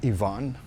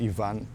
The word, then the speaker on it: Ivan: a storm pretty much Ivan or Yvonne depends on if you are uh talk about it in English or Spanish we would say it here in papiamento Ivan like we would pronounce it like in Spanish and then that one